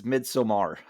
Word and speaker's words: Midsommar: you there you have it folks that's midsomar as as the head as the Director pronounced it in in interview I saw um this